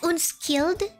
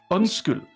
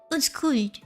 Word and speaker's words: undskyld: Wait, you read it as unskilled? Undskyld. Unskilled. So not. Soft D. The D is soft, Layla. Unskilled. Undskyld. Unskuld. Undskyld. Unskuld. Yeah, here's how you say it.